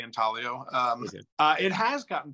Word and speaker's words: intaglio: um the the intaglio is that how you say it in talio um uh yeah I'm not sure about the the Italian pronunciation but in America we say intaglio um uh it has